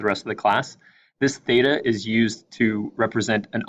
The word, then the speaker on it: theta: with a horizontal line through it and it's pronounced theta this is a Greek letter and you'll see